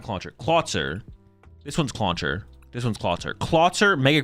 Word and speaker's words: Clauncher: This one's clauncher.